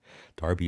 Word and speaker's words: Derby: Derby is how you pronounce it in England.